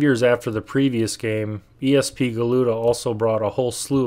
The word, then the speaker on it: ESP Galuda: Millennium case in point ESP galuda yeah I know it's supposed to be pronounced ESP guda but I think ESP galuda sounds a little better well not a direct